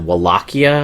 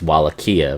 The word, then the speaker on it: Wallachia: I think the W is technically supposed to be a V because we're in Romania, but it's whatever. If you go with the Castlevania 64, it's Wallachia, because they actually read you the intro.